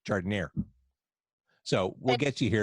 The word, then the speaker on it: giardiniera: Well, and once you enter Chicago or the Midwest, the pronunciation changes. It becomes giardiniera in Chicago. It's not giardiniera, it's giardiniera.